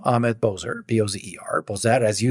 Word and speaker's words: Bozer: And I'm on LinkedIn with my name, Ahmet Bozer, Bozer, Bozer, as you said it rightly.